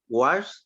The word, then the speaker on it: watched: past um finale okay i watched i washed t and then remember you